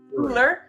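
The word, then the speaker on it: Coola: sure go ahead okay it was uh Kula cooler well Cooler why does it say cool that's the way they they're oh but it's called cooler that's his name okay because it's spelled c-o-o-l-a so I thought that's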